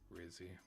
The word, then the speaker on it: Rizzi: My vote for head coach rhymes with fizzy. Rizzy.